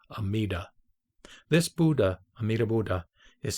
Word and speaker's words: Amida: lotus sutra he says in chinese the pronunciation is omitofu and in japanese amida this buddha amir buddha